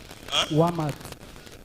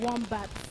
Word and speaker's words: Wombat: No, it's not Walmart. It's not. You are not pronouncing it well. It's not Walmart. Walmart. And you run, come outside. So the correct pronunciation to that is Wombat.